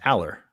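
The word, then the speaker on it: Allar: game notes open it it's Aller it's Aller Al like the name like like from step by step and then lur yeah um and that's that's basically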